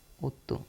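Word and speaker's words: otto: सेत्य ठीक है आठ को हम कहेंगे ओतो ओतो ओ डबल टी ओतो ओतो को हम कहेंगे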